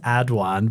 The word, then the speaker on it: Aduan: So, it's pronounced Adwan, but trust me, it doesn't offend me.